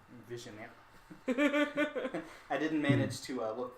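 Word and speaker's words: Vigenère: pronounced Vigineer. Vigineer.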